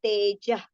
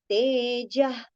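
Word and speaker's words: तेजः: If the visarga is followed by ksha, right, then the visarga sound should be taken as ha. And that also with exhalation, if you take, that will be the perfect pronunciation. So it should be tejah, tejah. That ha sound should be heard and not ka sound.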